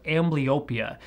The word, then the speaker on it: amblyopia: The medical term for lazy eye is pronounced amblyopia, and despite people calling it lazy eye, it's